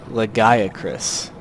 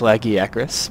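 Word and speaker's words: Lagiacrus: pronounce it that way I'm pretty sure it's lagi acis because the Japanese is rakusu so I feel like that's the closest I feel like that's the closest way that you could probably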